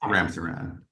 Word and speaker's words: Ramsaran: Sir, am I pronouncing your name correctly? You are, your honor. Yes. Ramsaran.